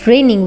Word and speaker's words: reign: Example, it is raining, it is raining, वर्षा हो रही है। तो इस वर्षा की स्पेलिंग है RAIN।